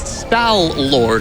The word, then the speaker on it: Stallord: wonderful name because uh it's sty Lord like stal hound and stall Soldier right but it's also just spelled kind of in a way that you can pronounce it like malard like a duck and that's way more